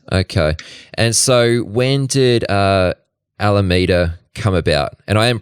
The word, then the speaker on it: Alameda: their flagship office okay and so when did Alameda come about and I am pronouncing that right yeah Alameda so I Alameda came out in late 2017